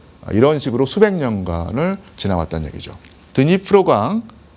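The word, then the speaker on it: Дніпро: 저 강을 옛날 러시아 발음으로론 드네프르 강이라고 했고요. 오늘날 우크라이나 발음은 드니프로 강이라고 합니다.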